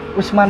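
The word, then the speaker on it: Useman: Usman nyokot di mana Usman? Jadi nulisnya teh dibacanya Usman. Cuman ditulisnya USI gitu, U-S-E terus men.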